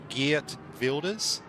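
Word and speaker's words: Geert Wilders: G Wilders. Gear vilders. That close enough almost. Yeah. Yeah. And then just like uh screw up your tongue while saying dig.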